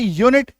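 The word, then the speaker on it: unit: यू एन आई टी यूनिट य में बड़ी उकार की मात्रा यू एन आई क्यू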